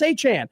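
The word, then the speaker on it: Etienne: ATN ATN, you ATN. Who are you talking about? To a press conference and say, "My name is Travis Achan."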